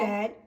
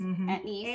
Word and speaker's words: anise: Anisette. Well, Mom pronounces anisette, but it's anise.